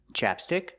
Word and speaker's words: chapstick: Chapstick, chopstick. Chapstick, chopstick. Do you hear the difference? Well, let's talk about it. So first, this is chapstick. We use the short A sound like black cat.